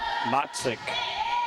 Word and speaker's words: Motzik: Laura Motzik is how they pronounce her last name.